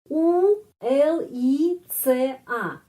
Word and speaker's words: ulica: Huruf C bagaimana mengucapkan? Gampang. T sama S langsung.